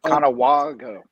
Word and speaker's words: Conewago: Conewago Yeah, it's a soft A. Yeah, rhymes with Chicago.